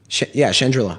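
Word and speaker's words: Chandrila: Scarif, or sort of the culture and the Trandrillan, is that how you say it? Chandrilla.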